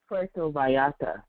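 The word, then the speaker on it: Puerto Vallarta: that place in Mexico how how do you pronounce it P pora how do you say that PTO Vata okay that one too all right um I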